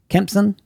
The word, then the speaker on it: Kempson: Kempson?